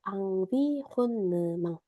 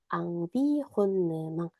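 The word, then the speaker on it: environnement: 비혼느망딸 그래서 환경이라고 하는 발음 되게 어려워하시는데 환경 말해 볼까요? 앙비혼느망. 앙비혼느망. 다섯 번 말해 볼게.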